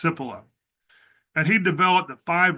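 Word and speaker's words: Cipolla: But in the 1970s, there was an Italian there was an Italian economic historian named Carlo I think his last name is pronounced Sippila and he developed the five laws of human stupidity.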